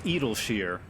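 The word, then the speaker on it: Idyllshire: care master garland yeah apparently it's edelsheer i still habitually call it idolshire that temple was no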